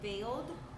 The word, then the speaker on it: veiled: Okay, let's do the sounds for the word veiled. V, A, O, D. Okay, let's do the sounds with the letter that corresponds for each sound. V, A. The E-I makes the A sound.